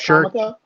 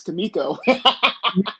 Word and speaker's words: Kamiko: What, Comico? Shuriken. Oh, actually was the comical part. It's Kamiko. I always do that. But, man. Yeah, everybody pronounces it comico.